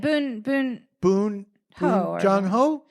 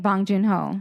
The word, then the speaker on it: Bong Joon-ho: Boon Jong-ho?